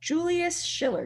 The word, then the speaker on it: Julius Schiller: So these are the representations of the constellations, especially the Zodiac constellations, created by Julius Schiller. Did I pronounce that right, Michelle?